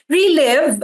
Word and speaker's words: Reliv: No, relive. Ah ganito po ang pag-pronounce.